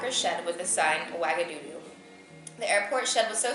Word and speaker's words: Ouagadougou: On the way to somewhere, our plane landed in, how do you pronounce this place? Ouagadougou.